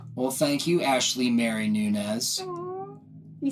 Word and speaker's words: Nunes: that thank you well thank you Ashley Mary Nunez you say my last name right really